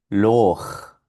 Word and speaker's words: Loch: Esto suena Loch.